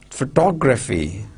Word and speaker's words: photography: See, stress on photo, photograph, right? See, shape is there, of course, and then total syllables 3 and stress syllable 1, photograph. Second one, photography, photographer. See, photo, there are 4 syllables, photographer, right? Stress on what? Stress syllables 2. So what? Photographer. And then photography. See, photo. See, and then photograph, photographic, photographic. So stress on 1, 2, and 3.